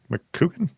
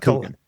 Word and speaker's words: Coogan: Keith, am I getting the name wrong? McCoogan? Keith Coogan. Coogan. Why did I do Mick?